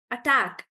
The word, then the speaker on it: attack: any questions so far attack attack is Attack Attack so attack it's on the second syllable actually so this is an exception attack and the it's an exception and we'll say attack like that um if we take